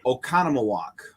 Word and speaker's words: Oconomowoc: oh yeah yeah that's it's pronounced how it's spelled oconomowoc yeah so if you